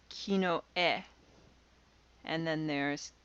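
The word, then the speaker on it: きのえ: an ordinal system then you would refer to it as kino e and then there's kinoto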